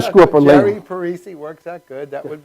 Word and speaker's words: Parisi: Yes, Jerry Parisi. Okay, Most people get my name right. Oh, well, I mean, you laughed. I was wondering maybe I screwed up. No. I can screw up a label. Jerry Parisi works out good.